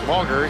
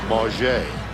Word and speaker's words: Mauger: Quincy is a senior and for years he's been known as Quincy Mauger. He asked this year that you pronounce it the French way, Mauger.